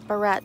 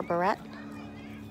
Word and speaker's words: Barrett: from my last name usually pronounce it Barret like a hair barrette hair clip but indeed it can